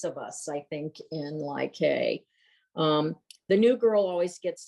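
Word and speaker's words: Lai Khê: And it starts with your landing at Ly Cay, is it pronounced? Ly Cay.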